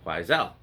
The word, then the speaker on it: Quoizel: I've heard other people pronounce it Quoizel, and so I had to look up the correct pronunciation, and it appears to be Quoizel.